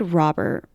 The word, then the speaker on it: Robert: First officer David Robert Rober because it's France. It's spelled Robert but we are in France. So it is first officer David Rober is 37 and he